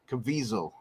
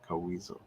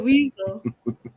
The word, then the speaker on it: Caviezel: Coweasel. Um, Caviezel. Caviezel. Caviezel. I think it's supposed to be Caviezel. I think that's how you're supposed to pronounce it.